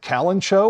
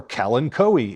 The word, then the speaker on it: Kalanchoe: how do you pronounce, is it Kalanchoe or Kalanchoe? Is it Kufea or Kufia? Guess what? You're both right.